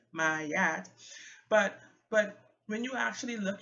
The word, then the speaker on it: Ma'at: Some people say Ma'at. I prefer to say Mayat. It sounds like it just makes more sense. And I think there's an accent on the first A, so the A sounds are different. Mayat.